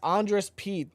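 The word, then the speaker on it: Andrus Peat: Andress Pete. Am I saying that right? Yeah. Yes. Andress Pete, the former first round pick for the Saints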